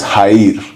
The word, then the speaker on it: Jair: So like in English it's Jair, but in Spanish the J is like a H. Like it's pronounced like a so it's Haid.